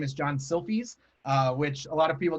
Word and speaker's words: Silfies: of hard to say it's kind of like taking a selfie um but you use an i so it's selfies so it's close and i am the